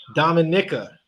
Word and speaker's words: Dominica: Not Dominican, Dominican? No, not Dominican. Dominica. You know what? That's probably how you say it, for real. I've never. Yeah, it's right next to Martinique. It's Dominica.